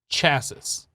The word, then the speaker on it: chassis: go a simple machine chasis the third s is silent by the way the third s is silent okay so simple machine a